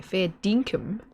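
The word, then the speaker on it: fair dinkum: I would say fair dinkham. I wouldn't pronounce the i quite like they do but they say fair dinkham.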